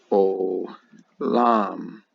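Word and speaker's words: עוֹלָם: then forever or antiquity oh Lam this might sound like alarm in the morning it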